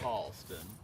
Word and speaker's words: Charleston: Uh like it's not Charleston, it's Charleston. They elongate all the vowels.